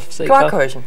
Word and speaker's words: Quarkkeulchen: Wie spricht man das aus? Quarkkeulchen.